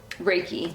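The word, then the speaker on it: Reiki: Um and they do um events as well as they do how do you pronounce that with the R? Raiki. They do reike as well for people or or they will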